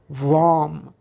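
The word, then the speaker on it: वं: صدا یا مانترای چاکرایی ریشه شد حرف لام و اما برای چاکرای دوم چاکرای خاجی یا چاکرای سباتیستانا بذر صداش یا مانتراش هست حرف وام واف ه ی حرف دوم مونده به آخر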